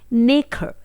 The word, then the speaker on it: nacre: सीप को इंग्लिश में बोला जाता है नेखर। जी हाँ, स्पेलिंग होती है NACRE।